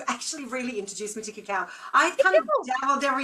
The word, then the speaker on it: cacao: So you taught us cacao.